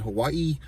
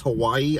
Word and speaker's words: Hawaii: Like she says, like the way that she even says Hawaii, I can't even do it. It's like Hawaii, you know, like she pronounces every A and I, Hawaii, and then she's always